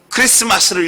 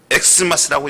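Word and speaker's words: Xmas: 이걸 뭐라 읽어야 돼요? 크리스마스를 읽어야 돼요. 그런데 사람들은 엑스마스라고 읽습니다.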